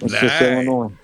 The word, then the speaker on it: Illinois: And uh on a full disclosure, uh is it Illinois or Illinois? Yeah, that S is silent. So, all right. Illinois.